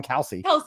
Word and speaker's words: Kalsey: Did I say your name wrong? Kalsey, like the first name.